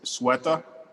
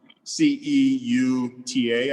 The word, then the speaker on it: Ceuta: So this was the map of, I believe I'm pronouncing it correctly, but it's Ceuta, Ceuta, I believe it is, in Ceuta in Morocco, but it's actually owned by Spain.